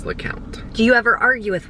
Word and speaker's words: LeCompte: Sometimes I'll say LeCompte so that people know how it's spelled, but I think our family says LeCompte.